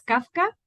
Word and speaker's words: Kawka: Mira, mi apellido es Kafka, se pronuncia casi como el autor y el Ujú. W es entre la F y la B, es un apellido polaco.